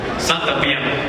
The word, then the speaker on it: សន្តិភាព: សន្តិភាព Santapiam.